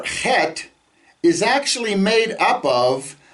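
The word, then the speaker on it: חֵית: 370 times eight the the letter het has no english equivalent okay it's it's sound is we we've put an h sound a soft h in english but it's not it's it's a sound comes from down here um best examples is maybe in scottish you have loch ness you know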